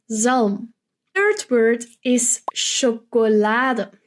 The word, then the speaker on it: chocolade: Third word is chocolade. But we often, in between language, so when we're speaking with Dutchies, just say chocolat. So we're not pronouncing chocolade, but just chocolat.